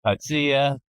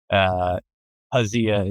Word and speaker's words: Pazzia: You put the emphasis right on the 2 Z's, Pazzia. But here, Pazzia is what most people say. But you got closer to the actual pronunciation.